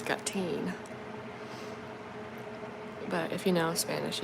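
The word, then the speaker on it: gatín: like little name collar got teen it's just g a t i n but like the I is emphasized so it's got teen but if you know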